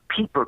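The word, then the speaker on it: Pieper: the basis of culture that's peeper because it's spelled Pei p r looks like Piper but it's really peeper in German and uh he shows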